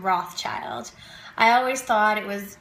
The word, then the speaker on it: Rothschild: I never had to talk about the silent S and how it wasn't Rothschild, it's Rothschild.